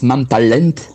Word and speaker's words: Mam Talent: Oui, enfin ça se prononce Mam Talent.